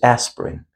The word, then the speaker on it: aspirin: be aware of it the number one we have is aspirin you see the letter A the letter I we have the underline so the letter I is generally not pronounced means we do not pronounce them. It's pronounced like we say aspirin. Aspirin would not we not pronounce them like aspirin little you know a little faster. Plus we say these words usually two syllables not three syllables.